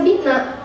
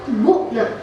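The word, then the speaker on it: بُعْنَا: dengan dhamir mutaharik marfu, maka bukan dibaca bi'na, tetapi dibacanya itu bu'na.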